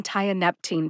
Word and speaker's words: tianeptine: about what it is tianeptine has four syllables Thai like you tie your shoes uh like that lovely schwa a sound ah NEP like the planet Neptune and teen like